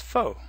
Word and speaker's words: faux: notice that foe is pronounced exactly the same as foe it's also the same as the word false which is faux and spelled the same